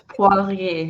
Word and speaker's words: Poirier: And French is not one of my strengths, so I'm gonna let you say your name because I probably butchered already. Oh, it's Poirier.